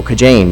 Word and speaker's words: Kajaine: KAJAINE? Oh, KAJAINE, yes, Your Honor.